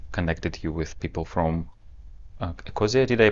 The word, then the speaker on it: Ecosia: There was a person, RT, who were doing this with you, and then he connected you with people from Ecosia. Did I pronounce it correctly? Ecosia, the Yes, company.